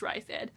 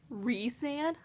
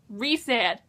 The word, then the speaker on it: Rhysand: I thought it was Rysand, but then I heard someone say Rhysand, like Reese's, Rhysand, and I was like, who are you talking about?